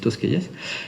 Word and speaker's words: Tosquelles: C'est pour ça que ça s'écrit Tosquelles, mais c'est Tosquelles.